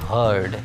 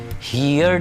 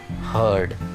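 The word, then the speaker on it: heard: First form को हम pronounce करते हैं हियर और सेकंड फॉर्म को हम प्रोनाउंस करते हैं हर्ड। हियर्ड नहीं बोलेंगे, आप इसको बोलेंगे हियर, हर्ड, हर्ड।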